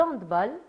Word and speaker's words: handball: termine donc avec le handball. J'ai bien prononcé handbal handbal handbal handbal. J'ai bien prononcé. Oui oui oui parce que c'est un sport germanophone. On dit handb et pas handball.